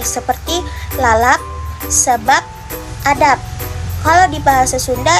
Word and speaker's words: sebab: Misalnya, kata lalap, sebab, adab. Dalam bahasa Indonesia itu akan kita ucapkan dengan menggunakan akhiran P. Kalau misalnya kita mendengarkan dengan baik-baik itu akan berakhiran huruf P seperti lalap, sebab, adab.